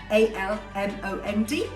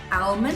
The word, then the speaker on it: almond: You don't pronounce the L, just like almond, A-L-M-O-N-D. It won't be almond, it will be almond.